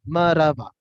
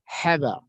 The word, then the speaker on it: مرحبا: So if I write directly marhaba, it sounds like marhaba, maraba, maraba, maraba. And this is the incorrect way of saying that word, marhaba. So how to say? You have to say mar marhaba. Marhaba. It should sounds like two words are connecting each other. Marhaba. It's not a two word, it's a one word, but it should sound like marhaba.